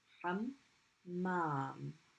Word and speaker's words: حمام: Hammam. It's being pronounced twice. So we're going to put a shadda.